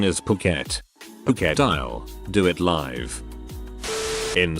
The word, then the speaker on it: Phuket: It wasn't until just about the end that I realized that I had been pronouncing Pquet as fri the entire time as I was reading my cards.